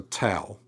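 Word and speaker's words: ταῦ: So towel and it is going to have that t sound like toggle or try to corresponds with our modern t.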